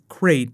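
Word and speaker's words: Crait: abandoned rebel base called crate I know a lot of people are like wait you mean like crate Dragon no it's spelled with a c but it does remind you of crate Dragon these are confirmed as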